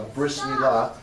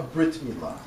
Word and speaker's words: brit milah: More formally, a bris milah, many times pronounced a brit milah.